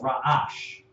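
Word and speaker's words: ראש: it is R but the way you say it is rash so you would drop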